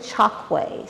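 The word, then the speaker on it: Chokwe: from the chalkway people you pronounce it chalkway c-h-o-k-w-e the chalkway people come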